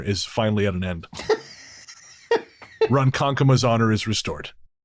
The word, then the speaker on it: Ronkonkoma: I think we called it Ronkonkoma. It is apparently Ronkonkoma. So we apologize to the people of Long Island. Your long national nightmare is finally at an end. Ronkonkoma's honor is restored.